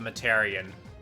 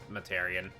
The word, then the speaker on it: Mataurian: may ask uh the mataran um that's how you pronounce my name a lot of people pronounce it different ways and stuff but yeah it's mataran exactly they'll keep caring about